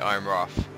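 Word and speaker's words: Ironrath: That's how you pronounce it, Iron Wrath.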